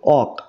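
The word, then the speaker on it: walk: letter ঠিক আছে যেমন ওয়াক ওয়াক তাহলে দেখো এই এল এর উচ্চারণ কিন্তু এখানে হচ্ছে না তাহলে এখানে সাইলেন্ট লেটার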